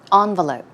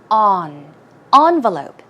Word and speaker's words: envelope: have picked this because this word can be pronounced two different ways as you see it